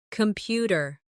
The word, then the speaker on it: computer: Computer. The stress is on the second syllable, computer.